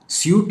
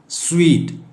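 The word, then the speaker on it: suite: അതിനെയാണ് സ്വീറ്റ് എന്ന് പറയുന്നത് സ്യൂട്ട് അല്ല സ്വീറ്റ് വേറൊരു സ്യൂട്ട് ഉണ്ട് എസ്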